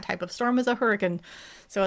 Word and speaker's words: Hurricane: The first pioneers who settled there were British, and that's how they say it.